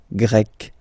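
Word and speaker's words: Grecque: You write them differently, but then, if you listen carefully, Grec, you pronounce them the same way, okay?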